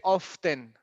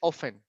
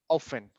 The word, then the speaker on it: often: often the word we we don't pronounce the T we don't say often no it's just often often it's like 60% and